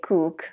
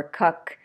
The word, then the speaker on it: cook: We don't say cook, right? Or cuck. It's cook, cook.